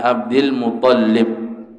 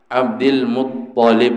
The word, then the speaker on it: Abdul Muththalib: Abdillah move polip semen orang ada yang membacanya abdul-muththalib tapi yang lebih tepat adalah Abdul move olip Hai kemudian ibu di